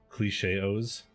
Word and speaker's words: Cilche-os: that would be great cliche OHS rhymes with chaos I don't know if